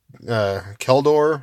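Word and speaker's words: Kjeldor: Darian, King of Keldor. I guess the J is silent.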